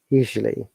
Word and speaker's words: usually: sound which is silent so it should be pronounced usually you see usually usually you see usually wow